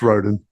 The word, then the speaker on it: Roden: a chat about uh David Roden Roden is that how you pronounce his last name really sorry if I've just pronounced that wrong yeah it's Roden um who was obviously